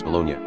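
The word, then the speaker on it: bologna: get colel from colel GN is Italian spelling for the Nia Sound Italian pronunciation is bolognia seriously most of these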